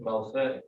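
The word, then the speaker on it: מַלְכֵי: Malchei. Malchei. And people will pronounce these words as though they're the same thing.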